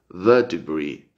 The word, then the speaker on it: vertebrae: Se pronuncia vértebre, pero en inglés se pronuncia vertebrae, vertebrae.